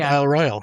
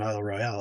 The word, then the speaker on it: Isle Royale: And like Isle Royale, it's spelled Isle Royale, but it's not Isle Royale, it's Isle Royal.